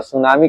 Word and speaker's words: tsunami: सुनामी का spelling T से शुरू होता है। किस से? टी से, यानी TSUNAMI सुनामी।